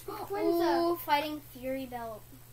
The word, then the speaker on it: Rayquaza: Rayquaza. Rayquaza, that's how you say it. Oh, come on! Look. Rayquaza. The Y is silent.